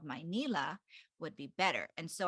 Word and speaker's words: Manila: I it's funny because I still hear my mom pronounce Manila like that sometimes when she's talking to family back home she'll say my Nila and and instead of Manila but she says now